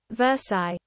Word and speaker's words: Versailles: think it spin out I don't want to pronounce it incorrectly Versailles okay Versailles end of the day day Traders